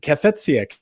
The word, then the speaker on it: Cafezia: And I pressed it, Cafezia.